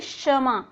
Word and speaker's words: क्षमा: शक्कर, क्षमा, समा नहीं है, ये समा नहीं बोलना है, इसे हमें क्या बोलना है, क्षमा।